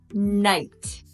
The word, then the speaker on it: knight: the kitchen got it the K also can be completely silent and make no sound at all the K is silent